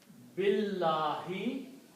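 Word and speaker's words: بالله: Alif has Hamzatul Wasl on it, which means do not pronounce alif. Billahi, in Allah.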